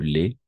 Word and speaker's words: lait: De yaourt, du lait, A-I toujours E.